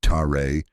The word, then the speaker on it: ter: The sound ter, pronounced tare, is the vibration of taking off the costume.